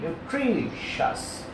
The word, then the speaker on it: nutritious: Upper sense accent is on T-R-I, T-R-I, tree, nutritious, nutritious, pushtikar.